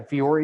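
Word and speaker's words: Vuori: They got into REI, and that put Viore, I think. Yeah. Viore is how you pronounce it.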